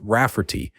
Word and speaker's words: Rafferty: She told my mom that spelling it Ray Farty will be obvious that it's pronounced Rafferty, but it makes it look more girly.